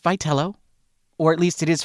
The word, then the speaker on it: Vitello: Number one, it's pronounced Vello, or at least it is for now until we hear differently.